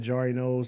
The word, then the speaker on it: Jarri Knows: you can follow me on social media at jar noos that's spelled j a r r i k n